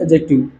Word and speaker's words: adjective: इट इसे call possessive एडजेक्टिव एडजेक्टिव पढ़ते हैं क्योंकि इसमें दी साइलेंट होता है कुछ लोग एडजेक्टिव प्रोनाउंस कर देते हैं तो मैंने क्या बोला